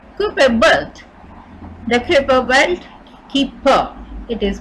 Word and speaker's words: Kuiper: Charon what is super built the Kuiper belt keep for it is pronounced belt is often called our solar system's